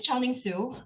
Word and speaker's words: Chiaoning Su: so my name is chong ling soo um if you think it's hard just think about italian ciao hello goodbye and then add ning after that name that's how you pronounce my name currently i'm an assistant